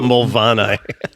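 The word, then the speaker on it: Moel Famau: live on the side of a mountain called Molfamau. So that's spelled, for anyone who wants to look it up, Moelfamau. Yeah, I'm pretty sure that's how it's spelled. Because that's how you spell Mulvanni.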